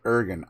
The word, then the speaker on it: Irgun: Ergen, IRGUN. He'll spell it out.